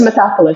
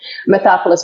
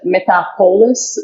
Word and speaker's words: Metapolis: It's Metapolis, How do you pronounce it? Metapolis, but a lot of people pronounce it Metapolis.